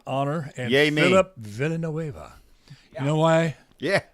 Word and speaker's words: Villanueva: Villanueva.